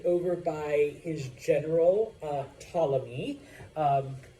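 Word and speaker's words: Ptolemy: by his General uh tmy um the p is silent like it is in most Greek words um this is Cleopatra's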